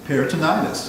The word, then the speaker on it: peritonitis: Perit Paritonitis.